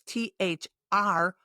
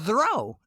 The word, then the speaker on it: through: Now the TH is unvoiced, and the OUGH makes a ooh. Ooh, yes, ooh. And it rhymes with blue.